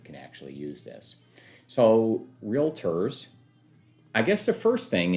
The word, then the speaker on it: REALTOR: how to pronounce it because it's not realtor it's not any one of those things it's realtor and as we scroll down